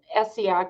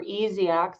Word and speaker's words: Essiac: um the the one essiac or easy act some people uh pronounce it differently but it's it's the